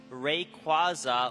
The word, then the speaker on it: Rayquaza: It's Rayquaza like quazar, dude. Quazar, not quazar.